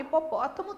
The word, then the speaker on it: hipopótamo: A palavra hipopótamo tem o H por uma questão aí de história, de como a palavra veio para a nossa língua, mas se eu tirar o H, a minha pronúncia vai ser a mesma. E também o H é